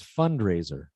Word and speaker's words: fundraiser: saying fundraiser but it's fundraiser fundraiser you're still putting the stress on rey fundraiser fundraiser that's better that's better and then t-shirts